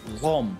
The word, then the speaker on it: Lhomme: We have Lhomme, so that's just pronounced Lhomme, isn't it?